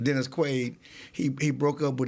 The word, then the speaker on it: Dennis Quaid: for who's the um I said his name wrong Dennis Quade Dennis Quaid he he broke up